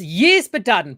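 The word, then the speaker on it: Ysbaddaden: It's Yspaddaden, but everybody can just call him Bodden, I think.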